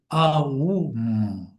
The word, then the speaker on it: AUM: And when we said this in many classes, the way to do that is you got the word AUM, but it should be AUM. That's how you pronounce it.